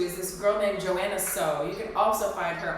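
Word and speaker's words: Soh: Somebody that I really like to work out to is this girl named Joanna So. You can also find her on YouTube. So is spelled S-O-H.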